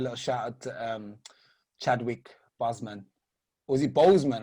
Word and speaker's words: Boseman: to give a little shout out to Chadwick Boseman. Was he Boseman? How do you say it? Boseman, yes.